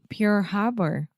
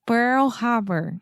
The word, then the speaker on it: Pearl Harbor: and it's the same that I feel with pure Harbor Pearl oh my God Pearl Harbor yes one more time Pearl Harbor I don't